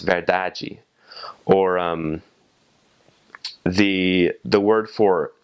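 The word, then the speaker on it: verdade: spelled the same but you have an e at the end right after that final D so it's pronounced very dodgy or the the word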